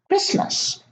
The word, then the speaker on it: Christmas: Now here in the last column, we have a silent T in the middle of the word: Christmas. There is no T, we don't pronounce it.